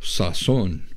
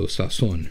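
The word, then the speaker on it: sazón: I like this Latin seasoning instead it's called Sasson which just means season seasoning it's spelled s-a-z o with an accent mark in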